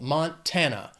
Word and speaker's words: Montana: 3 syllables, stress is on that 2nd syllable. Montana.